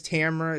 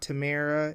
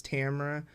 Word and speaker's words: Tamra: y'all but night but my name is Tamra it's not Tamera it's Tamra so it is Tamra